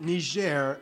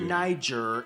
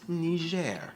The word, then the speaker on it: Niger: mali and niger yes people that's how you pronounce it niger not niger not knee jer and definitely not that offensive